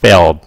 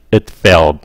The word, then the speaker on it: failed: Mà âm D á, khi nó nhanh các bạn không có nghe, mà người ta sẽ ngắt cái hơi nó lại.